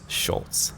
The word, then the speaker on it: Sulc: Just for the record, since most people don't know, my last name is pronounced Schultz.